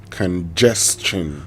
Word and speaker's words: congestion: So, if you want to say it right, congestion. So, if there's an s that precedes the t i o n, it makes it the chin, right?